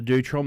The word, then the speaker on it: Deutrom: hard and I'm really impressed that you can pronounce it correctly because not many people can so my name is dutram so at and dutram is